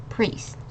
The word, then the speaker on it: priest: This I and the E makes E sound again like this. So it's priest. Okay, not priest. It's a priest.